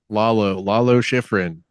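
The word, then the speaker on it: Lalo Schifrin: say his name actually Le shiffer shiffrin shiff I've always seen his name never tried to say it lo lo shiffrin thank thank you that sounds better what I was trying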